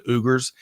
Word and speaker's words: Uyghurs: were talking about um the uyghurs i think is how we pronounce that i've also heard it pronounced the ugars and how how supply